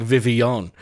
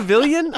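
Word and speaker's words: Vivillon: pronounce Vivion vavilion phenomenal they even phonetically wrote it out in the blog Vivion it's not the villian oh my god that's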